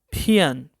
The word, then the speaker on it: 骗: bai, 你 तुम, 你骗我骗 means झूठ बोलना. PIAN और ए के ऊपर फोर्थ टोन. 你骗我 आप ऐसे भी बोल सकते हैं, लेकिन नेटिव स्पीकर एन को थोड़ा सा साइलेंट करके बोलते हैं.